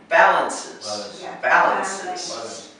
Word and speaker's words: balances: and this is balances the emphasis is on the first syllable balances you have to put